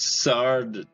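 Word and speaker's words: Sada: Okay, Liz, it's Sarda. Yep, it's Sarda.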